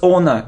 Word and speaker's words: honor: have this word so it isn't honor it's honor it's like honest honesty so we don't pronounce h it's like hour not